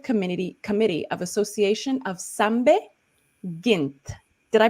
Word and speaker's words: Sambe: of the executive committee committee of association of sambe gint did i pronounce that correctly that was perfect yes this